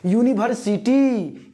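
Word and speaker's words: university: Use article an, Y, because in Hindi pronunciation, if you will pronunciate it in Hindi, यूनिवर्सिटी, यो तो हमारा स्वर है ही नहीं, तो कैसे होगा, खा गए ना धोखा, है ना।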